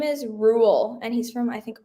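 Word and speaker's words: Ruel: Okay, his name is Rule, and he's from I think Australia. It's like how do you spell that?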